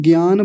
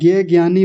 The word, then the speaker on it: ज्ञानी: तो ज्ञानी कैसे होता कि मान लीजिए ये है, और जो लोग इसको ज्ञानी बोलते हैं, ज्ञ कहते हैं, तो फिर तो ये ग आधा और य से मिलकर बनना चाहिए था, है ना।